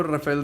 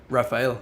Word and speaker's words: Rafael: host them yeah yeah i know rafael that you were raphael sorry i pronounced your name in spanish um that you were